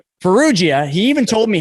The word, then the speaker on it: Ferruggia: Ferruggia? Ferruggia.